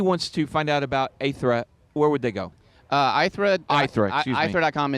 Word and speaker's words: Aithre: It comes from the Greek feminine version of ether, like the ether Oh, out okay, there.